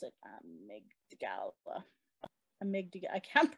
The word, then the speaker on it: amygdala: Please heal the brain, Lord, the amygdala. How do you pronounce it? Amygdala.